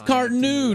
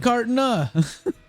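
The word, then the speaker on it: Carteneau: hope to gain again it's cartenu not cartona i sense you harbour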